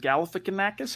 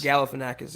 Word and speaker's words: Galifianakis: This profile pic that you're rocking now on Facebook, Mark, of is it Galifianakis? How do you say that? Zach Galifianakis? Galifianakis, yeah.